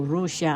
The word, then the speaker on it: Rusia: Sa wikang tagalog po, Rusia ang bigkas.